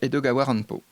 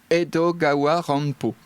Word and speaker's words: Edogawa Rampo: allan poe parce que la manière dont on prononce edgar allan poe au japon on est sur edgar allan poe donc edogawa rampo donc il a fait il a fait coller cette ce clin d'oeil à une prononciation japonaise et il a utilisé